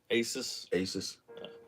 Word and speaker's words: Asus: Is it pronounced Asus, or Asus? Asus.